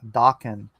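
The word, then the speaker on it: Daken: It's Japanese, so it's pronounced Dakin.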